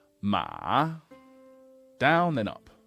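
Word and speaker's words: 马: ma down then up Ma slightly down and then way up so that is the word for horse in Chinese but let me just show you how this would be pronounced most commonly in real life Matt ma ma really low really short and kind of croaky that's why we call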